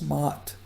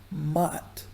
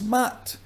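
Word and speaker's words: Ma'at: And what we pronounce as Matt, we pronounce two letters. A. It's not like that. The first a is short and the second is long and deaf.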